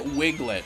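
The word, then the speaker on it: Wiglett: why didn't like okay they called it Wiglet which obviously rhymes with Diglett and it looks the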